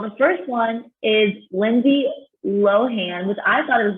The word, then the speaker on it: Lohan: up a firestorm by merely pronouncing her name with the enemies on a long o and not the h so wow i've been saying lindsay lohan but right now she's